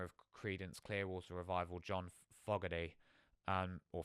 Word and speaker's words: Fogerty: the lead singer of Credence Clearwater Revival, John Fogerty um or Fogerty, that's how you pronounce it.